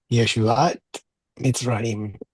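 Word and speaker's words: ישועת מצרים: Make sure not to pronounce the letter Yud like a J. I know that in some dialects, the J and Y are kind of interchangeable. We need to pronounce the Y like the letter yes. Yeshuat Mitzrayim. Right? And the letter Saudi, make sure you do it as a TS or as a plosive emphatic S, but not as an SH.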